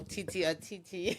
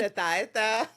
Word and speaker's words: Tête-à-Tête: Nobody can pronounce it. I've heard it all. Titi. Yeah, you know, Tête-à-tête. Tête-à-Tête, but like it's okay. It's tête-à-tête. Whatever floats your boat, but it's Tête-à-Tête.